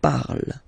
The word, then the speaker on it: parle: parle again, so remember, and after that you just put the ending e, and then the way to pronounce it is je parle, parle. So remember, we put it, okay, but then we don't really pronounce it.